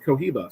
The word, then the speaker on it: Cohiba: And I just realized tequila rhymes with Cohiba, so we might have tequila, Cohiba.